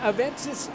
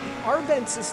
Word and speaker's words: Arvensis: all day long the aventis lamborghini in first place arvensis lamborghini i knew i said it wrong the arvensis lamborghini of